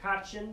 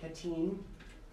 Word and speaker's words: Katyn: It's pronounced Katyn, it's not Katyn, or Katyn, Katyn.